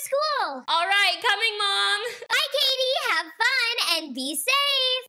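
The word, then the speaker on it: Cady: Please welcome Caddy. It's pronounced Katie.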